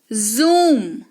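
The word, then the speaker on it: zoom: ठीक है, जैसे कि जू, क्या, जू, जूम, कहते हैं ना कि फोटो को जूम करो, जूम नहीं होता वो, जूम बिल्कुल नहीं होता, वो जूम होता है, फोटो को जूम करो।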